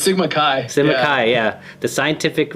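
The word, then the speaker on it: Sigma Xi: to Sigma Sigma how how would you pronounce that Veron it's Sigma Kai Sigma Kai yeah the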